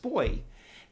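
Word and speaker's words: Booij: Um, so we visited this place called Boy and uh it was spelled B O O I J, but in Dutch it's pronounced Boy.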